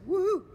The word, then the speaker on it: Woohoo: I'm here at the woohoo Inc that's woo right that's how you pronounce it actually and sitting here with